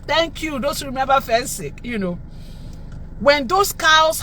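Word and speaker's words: Phensic: There's a product called Fensic. Anybody remember Fensic? Fensic, Fensic, Fensic, Fensic, Fensic. Yes, yes, Fensic. It's spelled P-H-E-N-S-I-C.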